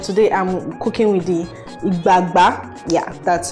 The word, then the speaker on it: igbagba: ebola and but today i'm cooking with the igba yeah that's how it's pronounced so i was like good morning ladies